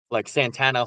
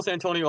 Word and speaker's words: Santonio: He's not all of a sudden, like Santana Holmes. He's still Santonio Holmes.